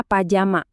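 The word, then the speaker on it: パジャマ: Nah, kalau untuk baju tidur katanya hampir plek ketiplek sama bahasa kita. Pajama ya dibacanya Pajama. Gampang banget diingat kan?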